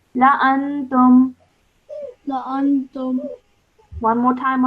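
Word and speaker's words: لَأَنتُمْ: So after the first lam, over here, the Alif has a cross, so this is an Alif Zaida, okay? And that means we do not pronounce it when we are reading, so we pronounce it like this.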